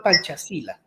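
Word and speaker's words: Pancasila: Hay un principio que tiene eh Indonesia que se llama panchasila, así se pronuncia, que son, digamos, son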